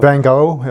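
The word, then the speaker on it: Van Gogh: yeah f for example I have a Dutch wife so I I pronounce it that Bango yeah Bango um he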